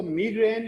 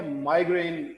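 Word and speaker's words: migraine: Then examples might include मिग्रेन, और इसको मिग्रेन या माइग्रेन दोनों तरह से प्रोनाउंस कर सकते हैं।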